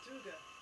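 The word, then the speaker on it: Tyge: It's Tuga.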